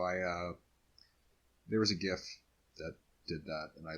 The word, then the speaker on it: GIF: should interchange format yeah we all know the actual pronunciation is J so please it's a